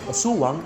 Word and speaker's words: Aswang: to the 16th century the word Aswang spelled asuwang as we might pronounce it meant sorcerer who